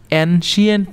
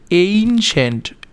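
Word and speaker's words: ancient: তো during the এনশিয়েন্ট time, প্রিয় শিক্ষার্থী এনশিয়েন্ট না, ওটার উচ্চারণ হচ্ছে এইনশেন্ট, এইনশেন্ট.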